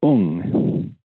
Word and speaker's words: Om: So, for example, when we think of the holy syllable as Om, in Japan it's pronounced Ung.